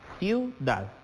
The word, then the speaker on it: ciudad: Tenemos acá, ciudad. La sílaba tónica recae en dad. Y acá, ¿qué tenemos formado? Un diptongo. Y por lo tanto es una palabra aguda.